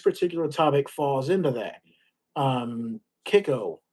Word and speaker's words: Kicco: Kiko. So it's spelled Kicco, but Kiko stands for Kissimmee Island